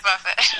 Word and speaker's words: Buffett: and I just said it's pronounced Buffett, right? It's not buffet, and so that wasn't scripted.